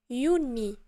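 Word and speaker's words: Juni: ابل ابل ماي ماي يوني يوني حيت الجي كنقراوها يا يوني يولي اوجوست اوجوست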